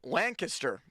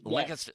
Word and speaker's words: Lancaster: Here is Matt in Lancaster, because it's Lancaster.